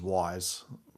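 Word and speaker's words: Wwise: But then everyone else is uses Wise which is you know WW is how you how you spell it.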